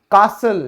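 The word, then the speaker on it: castle: फिर है किला, कासल, यहां पे टी साइलेंट क्यों हुआ, L और E की वजह से।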